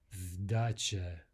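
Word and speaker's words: сдача: The word for change, like at the cash register, is sdacha. So here we have a voicing of the S to a Z sound.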